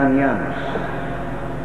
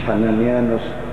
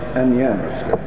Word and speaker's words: أنيانوس: هو أنيانوس أصلها كلمة نطق يوناني لحنانيا. ممكن إن إحنا نرسم واحد اسمه حنانيا ويبقى باليوناني أنيانوس، مش حنانيانوس، أنيانوس. بشنونة ده ما أقدرش أسمي